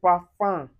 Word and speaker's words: parfum: So anywhere you see u m also, you pronounce it as uh. And you can find it in parfum.